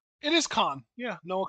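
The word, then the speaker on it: Kahan: So, how do you pronounce that? It is Khan. Yeah, Noah Khan.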